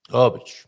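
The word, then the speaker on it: Óbidos: But the proper Portuguese way is something akin to all beach, Obich. The emphasis goes on the O. It has the accent mark, so it's going to be pronounced ah, and it's going to be emphasized. So it starts ah, then bidos.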